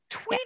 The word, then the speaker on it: Tweedia: Tweed, like the fabric. A tweed. Yeah. And then IA. Tweedia. Yeah.